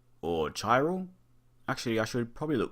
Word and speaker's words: Chiral: this video looking at chi roll or Tyrell actually I should probably look this up I'll be right back greetings fellow mic addicts and welcome to chiral the H is silent this is a puzzle